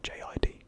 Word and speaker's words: JID: Or JID. I know some people pronounce it differently, Jid or JID. Either or I guess works.